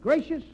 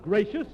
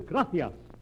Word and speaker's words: gracias: Muchas gracias, No, amigo. No, not gracious. That word is gracias. You see, in Spanish, the C is pronounced T-H. Gracias.